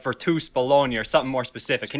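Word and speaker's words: Virtus Bologna: with your current basketball team in italy uh it's spelled to the american virtus baloney like like as in like the deli meat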